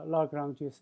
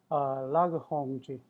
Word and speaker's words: Lagrange: Actually, that's the French pronunciation. Uh, for his name, Lagrange. But the it, I usually try to pronounce like the people's names, the following like their the respective the languages. However, in this case, if I do that mixed with English, it sounded really funny. So I was sticking to English pronunciation Lagrange, but it's supposed to be Lagrange.